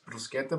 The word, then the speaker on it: bruschetta: Yeah, obviously I'm Italian, so it's bruschetta, but, look, if you want to say it like that, if it's how you say it, it's fine, But he still was like, bruschetta, and I'm like, all right, whatever.